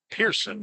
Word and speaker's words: Pehrson: Pitcher for the Aviators, number 12, Ryan Person. I believe is how you say that. Pehrson. He's from Northern Kentucky. Pearson is how they're saying it.